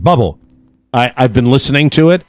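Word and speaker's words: Bublé: Christmas album out yes I think it's pronounced bubble I've been listening to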